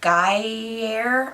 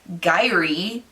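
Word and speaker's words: Gyre: Guyer I I don't g y r e i pronounce it gye because it's my name with a G instead of an A but I don't think most people pronounce my name with a heart E I think it's more of like an air so guy and M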